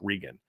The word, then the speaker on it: Regan: um spells his name like yours and it's pronounced Regan so that's in in my in in in